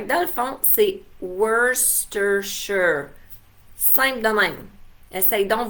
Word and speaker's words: Worcestershire: Mais Worcestershire, c'est vraiment la bonne façon de le prononcer. Nous autres, on disait aussi Worcestershire, hein, parce qu'on se disait, bon, ça doit être quelque chose de même.